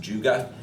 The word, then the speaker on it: Juga: It's a genus that we're going to see a lot of them, and it's pronounced Juga.